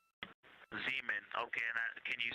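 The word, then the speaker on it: Zeman: Zean. Okay. And can you say the first letter? I may be pronouncing that wrong.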